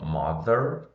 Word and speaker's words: mother: Mother, tem esse TH aqui, ó, tem o som de the.